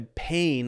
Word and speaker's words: pane: a pane so a pane of glass pronounced exactly the same as p-a-i-n is that's how we